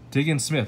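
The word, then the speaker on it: Diggins-Smith: Diggins Smith.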